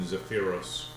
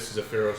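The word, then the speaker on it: Zephyros: Is located in Zapira. How do you spell that? Z E P H Y R O S. Where is Zapira, you may ask?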